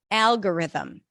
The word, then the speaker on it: algorithm: This is a dark L, so it's a little heavier. I kind of tense the back of the tongue for it. Al, g, schwa, ri, them. Stress is on the first syllable.